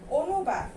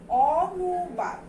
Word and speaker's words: অনুবাদ: একইভাবে এখানে যে বানান রূপটা দেয়া আছে সেটার উচ্চারণ যদি আমরা করি সেটা হবে কি? অনুবাদ। কিন্তু এটা আমরা কি উচ্চারণ করি? আমরা এটাও ও দিয়ে উচ্চারণ করি। এটার উচ্চারণটা কিন্তু ওর মতো করে হবে, অ এর মতো করে হবে না। ও নু বাদ।